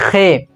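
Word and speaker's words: ख़: इसको हम बोलते हैं खे, जिस पे नुक्ता लगा हुआ इसको जो है खे बोला जाता है, खे हलक से यानी जड़ से आवाज आती है खे करके।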